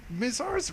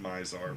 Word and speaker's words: Mizar: they were called tribals by the way miss ours Raiders it's pronounced Mizar Mizar and Wow this font is